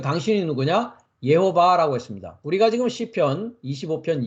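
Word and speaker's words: יהוה: 여호와를 얘기하고 있단 말이죠 여호와 그래서 히브리어 발음으로는 예호바입니다 예호바 예호바 한글로는 여호와 하고 있고요 어 영어에서는 제호바 하고 있습니다 그래서 저는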